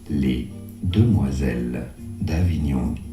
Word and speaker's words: Les Demoiselles d'Avignon: Les Demoiselles d'Avignon is how you would say it in French in France.